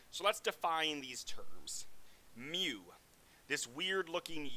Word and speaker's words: mu: mu which looks like this weird u it's pronounced m u mu if you're using a sample you'll use